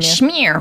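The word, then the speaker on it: Myr: Shmear, right, yes. Shmear. I always pronounced it Schmeier.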